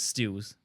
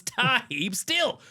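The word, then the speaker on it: Tarhib Still: name wrong wrong yeah they kept referring to him as Steels not Dante Steels it's tah not Kenny Steels it's tah steel two interceptions including a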